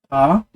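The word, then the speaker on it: ر: Ok, l'autre lettre en langue arabe, c'est la lettre qui est difficile à prononcer, c'est la lettre Ra. Ra, rappelez-vous, de manière isolée, c'est ça, avec le point en haut.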